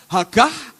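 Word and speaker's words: הָגָה: Tulisannya Hagah, H-A-G-A-H, Hagah, bacanya Hagah.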